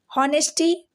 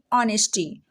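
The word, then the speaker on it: honesty: के पढ़ना है ऑनर नेस्टी बिल्कुल भी नहीं नेस्टी नहीं ऑनेस्टी ऑनेस्टी हावर ववर नहीं आवर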